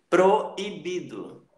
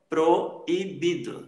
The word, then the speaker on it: proibido: Proibido. Proibido. São duas vogais também, ou o encontro dessas duas vogais, mas em sílabas diferentes. E você separa também na pronúncia.